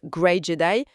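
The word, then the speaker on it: Grey Jedi: Et dans cette logique, l'idée du Jedi gris qu'on prononce à l'anglaise gray Jedi devient intéressante.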